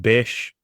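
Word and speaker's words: béésh: And basically, you have some metal, and it's pronounced besh.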